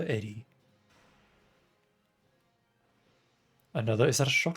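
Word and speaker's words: Edy: get ready for eddie although her name's edie or it's pronounced edie but i prefer eddie another is that a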